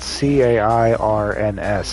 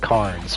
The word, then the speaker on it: Cairns: I think it's spelled C-A-I-R-N-S. It looks like Carnes, but Cairns is the pronunciation.